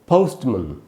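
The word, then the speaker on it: postman: तो इसको असल में क्या प्रोनाउंसिएशन होगा दोस्तों? ये होगा पोस्टमन। पोस्ट, एक तो पोस्ट नहीं होगा, दूसरा मैन नहीं होगा, पोस्टमन।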